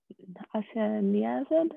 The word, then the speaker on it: isoniazid: So isoniazid, I think is probably how it's pronounced, is actually an antibiotic.